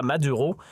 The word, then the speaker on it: Maduro: le président vénézuélien Nicolas Madura. Oui, vous avez bien entendu leurs camarades et ici on s'en tiendra à la prononciation bien de chez nous Nicolas Maduro à la française tout au long de nos épisodes.